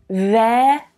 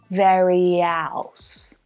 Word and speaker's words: various: Ver, as in air, ver, various, that final syllable, is very flat and low in pitch. Various, various.